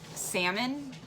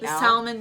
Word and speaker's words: salmon: fish I don't presume we don't put the L I don't like when people do that this do people really pronounce the Salomon yeah Salomon who says all dayit who I say salmon that's just salmon I've